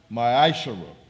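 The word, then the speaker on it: מעשר: It means a tenth in the Hebrew, and it is pronounced ma'ashara.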